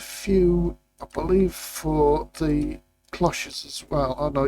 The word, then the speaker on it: cloche: Now, I did look up the word cloche. And in English, it's pronounced cloche. Now, if you're not English and it's pronounced different in your country, I'm sorry, but from now on, cloche it is.